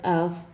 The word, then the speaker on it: of: spells with an F we pronounce the word of with a voice v v I know this sounds